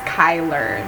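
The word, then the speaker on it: Chyler: oh my gosh like yeah her name is pronounced Kyler yeah I was right yeah hailer my foot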